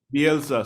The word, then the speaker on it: Bielsa: He's the Ted Bundy of Leeds, and I think as much as how you pronounce his name? Bielsa, Bielsa, sorry.